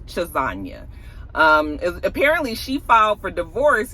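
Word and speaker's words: Chassagne: name is Raina chesna it looks like CH chisa it's sort of spelled like lasagna but it's chisa um apparently she for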